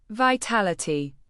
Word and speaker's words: vitality: Vitality. Pronounce it as vi-tal-i-ty, putting the main emphasis on the second syllable, t-a-l.